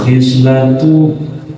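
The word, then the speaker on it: خصلة: Wal khislatu dan yang disebut dengan khislah bil kasril k dibacanya dikasrahkan khnya berarti khisla.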